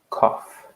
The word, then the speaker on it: cough: like K all FF cough no extra words no extra sounds just cough one syllable call okay so we